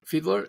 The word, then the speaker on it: Fiedler: by Brigitte Mars and Fedler, is that how you pronounce it? Yeah, Fiedler.